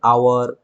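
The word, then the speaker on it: hour: তাহলে এই ক্ষেত্রগুলোতে আমরা এই জন্য অ্যান বসাই, যেহেতু উচ্চারণটি ভাওয়েলের মতো হচ্ছে। যেমন অ্যান আওয়ার, an honest man, an hair, hair মানে হচ্ছে উত্তরাধিকারী, অ্যান অনার।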